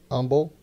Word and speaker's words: Humble: post office box 2511 Umble Texas 77347 and that's humble it's spelled h u m b l e everybody says humble but it's pronounced humble yeah it's silent h so yeah send Ray